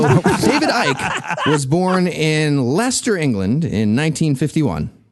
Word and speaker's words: Leicester: So David Icke was born in Leicester, England in 1951. I believe that's pronounced incorrectly. He was born in Leicester, England.